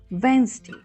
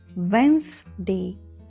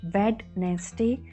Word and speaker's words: Wednesday: was okay it was Wednesday so here letter D is silent letter s has z sound not s sound so it was Wednesday morning Wednesday okay so